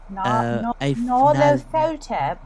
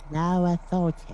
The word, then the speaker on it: Nyarlathotep: worshipping I was gonna say a deity, but more of a figurehead of Nyarlathotep, I think is how it's pronounced. Nyarlathotep. Nyarlathotep.